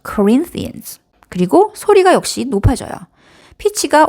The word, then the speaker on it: Corinthians: 소리가 커지고 길이가 다른 음절에 비해서 길어지죠. Corinthians. 그리고 소리가 역시 높아져요. 피치가 올라가죠. 자, 그럼 고린도 후서는 secondans. Second Corinthians.